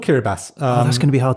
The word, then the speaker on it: Kiribati: this writing system and who made that decision when there was a perfectly functional s in the alphabet to go let's go with the ti that's that's really gonna